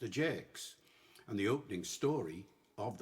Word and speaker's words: Ajax: And he calls it that because Ajax was pronounced Ajax.